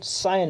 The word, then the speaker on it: scion: या तीसरा सिनोनिम हो जाएगा सायन, SCION, सायन इसका प्रोनाउंसिएशन है।